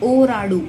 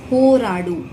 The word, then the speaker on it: ಹೋರಾಡು: It's not ಓರಾಡು, it's ಹೋರಾಡು, right?